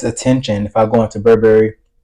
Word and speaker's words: Burberry: if I go into Burberry or Burberry cuz that's the way you pronounce it. Burberry in regular clothes versus